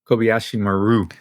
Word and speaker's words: Kobayashi Maru: Kobayashi Maru.